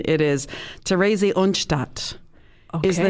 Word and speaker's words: Theresienstadt: Now, I tried to get the pronunciation. It is Theresienstadt is the name of this concentration camp.